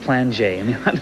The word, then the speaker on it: Plainguet: to ask you um how does a guy whose name sounds pluit end up having it pronounced PL it's it's French you ask my parents it's just regular French pronunciation of your name PL okay I I